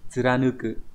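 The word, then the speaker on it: 貫く: Thì nó sẽ đọc là tsuranuku.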